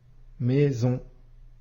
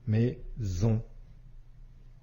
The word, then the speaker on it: maison: le Son ze s maison ici S se trouve entre I et o qui sont bien de voyelles et on entend bien le son ze maison classe ici on a